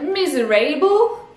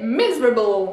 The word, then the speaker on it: miserable: Misérable, on aurait tendance à se dire miserable. Eh ben non, ça marche toujours pas. C'est miserable, miserable. Le A n'est pas prononcé A, miserable.